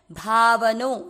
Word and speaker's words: भावनो: भाव, व में वापस अ मिक्स करना है, भावनो। ये बीच बीच में जो भी अक्षर पूरे होते हैं उनमें अ मिक्स करना नहीं भूले, नहीं तो उच्चारण रॉन्ग होगा।